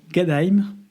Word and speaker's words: Gadheim: Il va désormais se déplacer très légèrement dans un petit village qui s'appelle Gadheim. On le prononce comme ça en allemand.